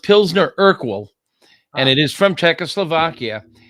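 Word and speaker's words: Pilsner Urquell: Okay, it's it's pronounced Pzner Urkal and it is from Czechoslovakia and before the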